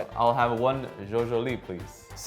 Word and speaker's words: Zjozjoli: - It's spelled Z-J-O-Z-J-O-L-I. Zjozjoli? - Perfect! - No, is that right? - That's exact, zjozjoli.